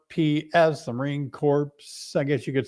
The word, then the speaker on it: Corps: the Marines you're you're part of the Marine Corps that is how it's pronounced the Marine Corps you know um it's spelled c r PS the Marine Corps I guess you could say but it's a